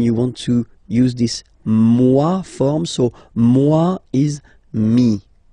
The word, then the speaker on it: moi: So remember this OE combination give you the sound wa wa wa, moi, okay?